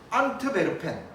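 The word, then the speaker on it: Antwerpen: 안트베르펜, 엔트와프라고도 이야기합니다. 안트베르펜은 독일식 발음인 것 같고 안트와프는 영어식 발음인 것 같아요.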